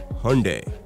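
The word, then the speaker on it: Hyundai: केवल 6% लोग ही हुंडई का सही उच्चारण कर सकते हैं। इसके कहने का सही तरीका है हुंडई।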